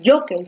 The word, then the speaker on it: jockey: la fuerza de voz tú dices vamos a jockey otro dices vamos a jockey un isr vamos al jockey entonces la fuerza de voz está aquí en la penúltima como está en la